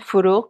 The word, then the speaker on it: Farouq: like four four oh how do you say her name farro food oh it sounds like a K at the end farouq farouq okay yeah he's